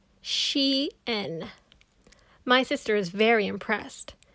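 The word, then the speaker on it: chien: french c-h-i-e-n means dog you say it like this she n my sister is very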